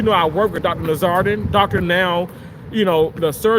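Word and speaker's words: Nowzaradan: Now because they can't pronounce his name, but his name is Nazardin, Nur Zardin.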